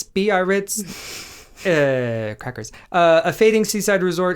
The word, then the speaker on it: Biarritz: Do you know how that's pronounced? No. Biarritz, Biarritz.